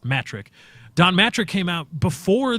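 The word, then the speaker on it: Mattrick: on the pronoun pronunciation it's not matric it's metric Don mattress came out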